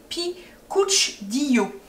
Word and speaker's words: picadillo: C'est alors je vais essayer de bien le prononcer parce que j'ai dit tout à l'heure, en fait ça s'écrit picadillo, mais ça se dit picuchdillo.